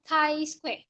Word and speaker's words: chi-square: squared chi square test we call it thai square not t whatever it's kind okay